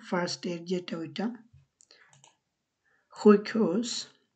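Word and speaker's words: sjukhus: হুইকহোস, হুইকহোস, হুইকহোস, hospital. এখানে এস যে যখন থাকে এটা উচ্চারণ অনেকটা আমরা যখন খ উচ্চারণ করি হুইক, হুইক হোস, সো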